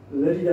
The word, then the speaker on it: Lleida: In Spanish it's Lerida, in Catalonian, its name is Lleida.